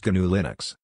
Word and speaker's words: GNU/Linux: also commonly known as gnu/linux pronounced G Linux Linux is touted as